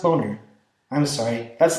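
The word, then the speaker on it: Boehner: speak of the House John Banner's name is actually pronounced boner I'm sorry that's not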